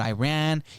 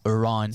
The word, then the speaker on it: Iran: It's not Iran, it's Iran.